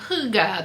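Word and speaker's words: hygge: and beachy and beach sweater and cozy and huga. That's h y g e if you're unfamiliar with how that word is pronounced.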